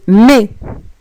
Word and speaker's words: mais: Mais, par contre, tu dois faire très attention, car la lettre S ne se prononce généralement quand elle est à la fin d'un mot.